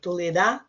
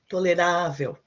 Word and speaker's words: tolerável: So the stress comes not the last syllable, but the one before.